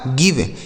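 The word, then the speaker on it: give: जी आई वी ई गिव, देख रहे हैं ना, कहीं भी ई का उच्चारण नहीं हो रहा है, इसे पढ़ा जाएगा गिव।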